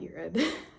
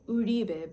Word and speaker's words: Uribe: It's not Yurb specifically. It's Yuri Uribe but like I don't expect you guys to say that because it's in Spanish. It's it's actually Basque but it's in Spanish.